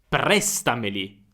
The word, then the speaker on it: prestameli: Prestameli. Prestameli. Prestameli. Senti la differenza. Prestameli su me. Ma è sbagliato.